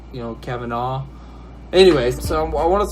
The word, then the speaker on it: Kavanaugh: I'm just gonna say Kavanaugh, like caviar, but without the R part. You know, Kavanaugh. Anyways, so I want to talk a little bit about Brett Kavanaugh.